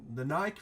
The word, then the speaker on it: Nike: look we've got the new silhouette there the Naik react boot I actually said it right this